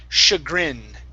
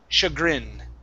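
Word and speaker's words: chagrin: aircraft very good um this word here is pronounced shagrin okay the so the CH the CH actually has three sounds a c CH and Sh okay the sh sounds are actually French words shagin shagin uhhuh good uh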